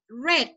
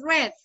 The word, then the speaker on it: read: Entonces el primero lo decimos read, el segundo lo decimos red, como el color.